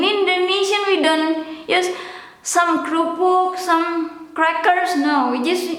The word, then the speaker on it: kerupuk: The Dutch pronunciation kerupuk, kerupuk. Indonesian, the formal one with e, or in English i. In Indonesian e, kerupuk, kerupuk. Or sometimes slang pronunciation and slang written, kerupuk, kerupuk without the e, or in English i.